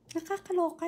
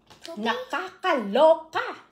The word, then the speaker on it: nakakaloka: Nakakaloka, no? Nakakaloka! I would say, nakakaloka!